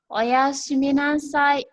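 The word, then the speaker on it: おやすみなさい: Selamat tidur dalam bahasa Jepang itu diucapkan adalah oyasumi nasai.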